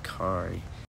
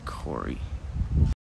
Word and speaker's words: Kari: rad very punk rock his name is kari not corey how do you feel